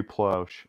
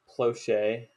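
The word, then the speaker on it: Plauché: And it's spelled like Plauche with a apostrophe like directly over the E. Oh, I see now. So wouldn't it be Ploche? Something like that. I just know everyone calls him Plouch. Also, he was really white, so I think he pronounced his own name Plouch.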